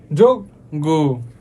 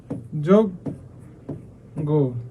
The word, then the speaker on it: যজ্ঞ: তারপ তিন নাম্বার রোজ শব্দের প্রথমে অ এর পরে যদি খেয় অথবা হচ্ছে এই যে উমগ এই এই দুইটা যুক্ত বর্ণ থাকে তাহলে কি হবে অ এর উচ্চারণ ও এর মত হয়ে যাবে যেমন কষ যোগ গো ঠিক আছে আচ্ছা যজ্ঞে লিখা এটা আচ্ছা পেন নাই সো এটা এটা এটা হবে হচ্ছে যোগ গো ঠিক আছে এরকম হবে